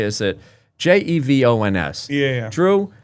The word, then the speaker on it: Jevons: Jevons.